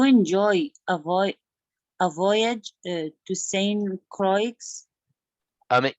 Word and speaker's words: Saint Croix: avoid a voyage to Saint Croix I mean you don't need to say the X it's Croix silent yes yeah this is